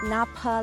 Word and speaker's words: Napa: We are at the Napa Lake, pronounced the same way as the Napa Valley in California.